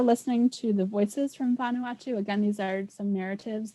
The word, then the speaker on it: Vanuatu: andrea it is pronounced vanuatu so i guess the emphasis on the ah vanuatu that's a good question